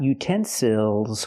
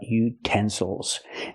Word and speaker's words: utensils: and these are utensils not utensils but utensils now we have a word with three syllables we stress the second syllable utens Souls again the